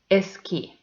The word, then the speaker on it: esquí: So the first word is esqui. This word has two syllables. The first one is es and the second one is qui. So the stressed syllable is the last one and this word is aguda.